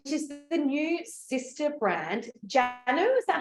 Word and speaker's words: Janu: Aman Group, which is the new sister brand, Janu. Is that how I pronounce it? Yeah, Janu in Sanskrit means soul.